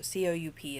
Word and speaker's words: coup: So C-O-U-P is pronounced coup.